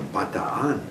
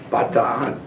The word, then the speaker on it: Bataan: But when I got over to the Philippines, it was called the Bataan. Is the correct pronunciation. Bataan, same spelling.